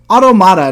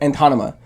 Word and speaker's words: Automata: been pronouncing this whole i've always been near antonyma that's how i've always said it and it's like there's like there's no ends i don't know what